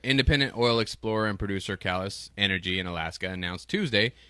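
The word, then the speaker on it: Caelus: Callus. That's how you pronounce it.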